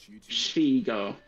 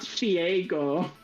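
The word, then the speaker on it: Shego: Shigo. Shigo? Shigo Eagle. Shigo Eagle. It's not Shiego.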